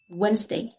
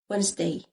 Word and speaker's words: Wednesday: آخر واحدة Wednesday. Wednesday. okay. هنا الدي silent مش بننطقها.